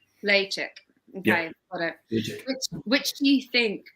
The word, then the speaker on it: Ledaig: was like right and they were like Lee chick and I was like ah I've got it now got it so Lee chick lay chick okay which do you